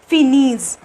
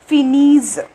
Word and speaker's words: finissent: Okay, so it becomes Finese. Okay, E N T is not pronounced here. So what is the pronunciation of this with plural ill and L is Finese. Okay, Finese.